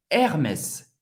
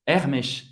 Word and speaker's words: Hermès: Hermès. Hermès em francês, Hermès. Hermès. Duas sílabas, Hermès. Ok? O S vai ser pronunciado no final da palavra. E tem o som do S mesmo.